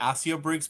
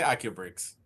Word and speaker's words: Accio Bricks: Some people say AO bricks, but I'll take both. I typically say Aubrics.